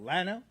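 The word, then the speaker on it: Llano: It's spelled L L A N O. Oh, Lo.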